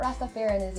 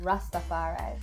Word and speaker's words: Rastafari: It's really not Rastafarianism. Tell it's me. just Rastafari.